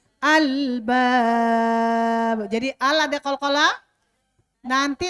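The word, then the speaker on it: الألباب: Ulil alba al jangan dikolkolahkan, jangan ulil ale, tak ada ale ya. Albab.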